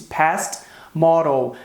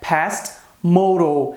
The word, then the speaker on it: past modal: Nesse vídeo você vai reparar, você vai notar que muitas vezes eu disse past model, quando a pronúncia correta é past modal.